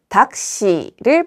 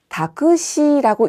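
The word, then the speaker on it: タクシー: 다크시라고 읽지 않고 저는 닥시라고 읽었습니다. 그런데이가 왜 초금으로 발음되었을까요? 타행과 사행 사이에 껴 있는 경우에는요. 닥시 이런 식으로 초금으로 발음되는 경우가 많습니다.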